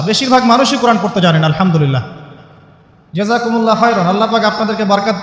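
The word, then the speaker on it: الحمد لله: আপনি পড়ছেন আল্লাহু আকবার আলহামদুলিল্লাহি রাব্বিল আলামিন এইতো আপনি পড়ছেন আলহামদুলিল্লাহ শব্দটা কি আলহামদুলিল্লাহ এই হা এর মাখরাজ কোথায় হা এর মাখরাজ কোথায় বলেন একজন কণ্ঠনালীর মাঝখান থেকে এখান থেকে আপনি উচ্চারণ করছেন আলহামদুলিল্লাহি রাব্বিল আলামিন অর্থ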